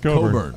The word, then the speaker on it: Cockburn: If I'm Gonzaga, Coburn. Oh, go look how it's spelled.